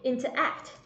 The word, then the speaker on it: interact: Interact. Interact. Trọng âm rồi vào âm thứ 3 các bạn nhé.